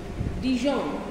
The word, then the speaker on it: Dijon: প্যারিসে আমরা দেখতে পাচ্ছি ডিজন, ডিজন একটা জায়গা, DIJON, ডিজন, DIJON, যে সেটা প্রোনাউন্সিয়েশন ডিজন, কারণ জের প্রোনাউন্সিয়েশন নেই ফ্রেঞ্চে, জ্যাক বলে কিছু নেই, জাক, সো ইটস জা, সে ডিজন, তাহলে স্পেলিংটা কিন্তু জে, ডিজন।